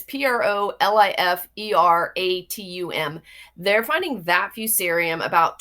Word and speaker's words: proliferatum: There's a Proliferatium, and it's Proliferatum.